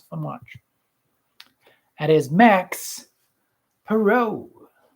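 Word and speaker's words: Max Parrot: That is Max Perot. Max Perot. Like parrot without the extra T? No. No? It's spelled just like I just spelled just like parrot.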